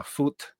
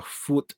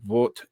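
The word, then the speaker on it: Vogt: Meyer and August uh fut two two of his collaborators in the United States is now V GT is pronounced uh fut in German but it's like vot in English because the G is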